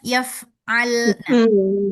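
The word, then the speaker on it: يَفْعَلْنَ: bacanya yaf'alna, yaf'alna.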